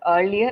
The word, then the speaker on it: earlier: Earlier is pronounced as earlier and not earlier. We don't say we say earl.